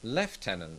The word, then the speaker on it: lieutenant: You may remember a few years ago when I told you Americans pronounce the word lieutenant as lieutenant, whereas British people say leftenant.